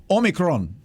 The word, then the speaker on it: omicron: it the correct way omicron so that is the official greek pronunciation and you're supposed to roll that r and i didn't do